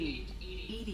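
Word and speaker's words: EDI: a jar where are you you named Ed Ed is thetic pronunciation of e that is an acronym for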